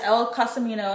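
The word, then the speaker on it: Elle Cosimano: So in this Finlay Donovan series, there is 5 books, I believe, which she also has El Casimano, that's how you say it, El Casimano, that's the author.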